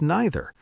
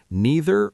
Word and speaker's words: neither: Both are 100% correct in standard English. Same with neither. Neither or neither.